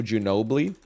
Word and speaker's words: Ginobili: James I see Kobe Bryant I see Manu Ginobili Manu I is this not Manu Ginobili Manu